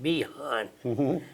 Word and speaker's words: Bihain: a bridge leading into Behan. We captured a bridge and Behan itself. The bridge was very important. Yeah. Behan is spelled Bihain, but it's pronounced Behan.